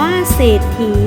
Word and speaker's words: เศรษฐี: ศรัทธา อ่าน ว่า ศรัทธา เศรษฐี อ่าน ว่า เศรษฐี คํา ควบ กล้ํา ไม่